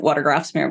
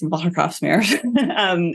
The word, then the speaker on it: Watergraafsmeer: So I live in the east part of the city, and it's in a neighborhood called, in American, I would pronounce it Watergraafsmeer, but it's Watergraafsmeer. And it's cool.